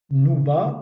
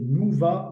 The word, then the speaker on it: nouba: siècle à l'arabe d'Algérie, nouba, prononcé nouva en berbère, qui signifie tour de rôle et service de garde.